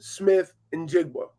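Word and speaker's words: Smith-Njigba: I think it's Jackson Smith and Jigba.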